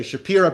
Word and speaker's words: Shapira: This is Tzvi Elimelech Shapira, depending on how you pronounce it. We're just going to say Shapira because that's how they say their name.